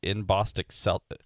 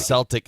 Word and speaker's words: Celtic: Patrick's Day introduced the Irish-American band that she said would offer up Celtic music pronounced by her as inbosticel. What does this mean? Celtic music. Celtic.